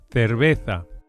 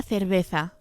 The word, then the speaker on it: cerveza: The upper and the lower lips come together extremely lightly to create this typically Spanish very light B sound. Cerveza. Una cerveza.